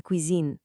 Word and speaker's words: cuisine: Let me hear you try to nail that soft Z sound right in the middle. Je fais de la cuisine.